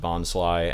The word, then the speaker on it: Bonsly: switched dubbing companies, so it's supposed to be pronounced Bonsly, and most episodes of the show have it Bonsly.